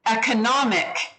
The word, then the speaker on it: economic: or economic right so every time you change the part of speech of this word it changes its pronunciation economy economic economist see how those all sound really different they're not none of them are pronounced the same so anytime you change the ending on this particular word it changes which syllable is accented and it changes the whole sound of the word um economy so